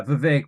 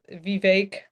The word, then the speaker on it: Vivek: while because I apologize, Vivek. I thought you were the villain in the game Morrowind, so Hey, he told you in his rap that Vivek rhymes with cake.